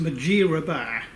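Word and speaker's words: Mudgeeraba: overlooking the Gold Coast at a place called Mathura bar it's actually pronounced majira bar but you know to the locals it's mud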